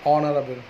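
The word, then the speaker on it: honourable: An elephant, N ऑनरेबल, एच नहीं pronounce नहीं होते, ऑनरेबल मैन।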